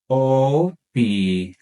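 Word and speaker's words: opinión: after me in meion make sure to stress that last syllable in opinion opion and if you wish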